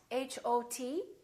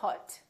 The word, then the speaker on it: hot: So, for example, the word hot, h o t, we don't say hot. We say hot. It's pronounced exactly as the ah in the words father or army or watch.